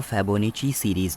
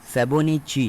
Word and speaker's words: Fibonacci: मैं आपको बता दूं इसका जो सही प्रोनंसिएशन होता है वो होता है फेबो च सीरीज फेबो निची नॉट फेबो स फेबो निची सीरीज जो किसने डिस्कवर करी थी जो इटालियन मैथमेटिशियन फेबो निची ने डिस्कवर कर थी